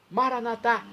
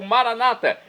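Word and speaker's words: Maranatha: e agora do aramaico Eu Clamo maranat como dizemos nós católicos ou Maranata como dizem nossos irmãos separados os evangelos ou protestantes não importa pronúncia o significado é o mesmo vinde Senhor Jesus um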